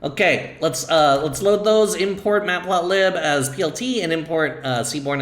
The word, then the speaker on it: matplotlib: This should be pronounced mateplot, right? Mateplot. And of course, this is library. So it's not matplotlib, it's actually mateplotlib. I had a friend get so mad at me for pronouncing it mateplotlib.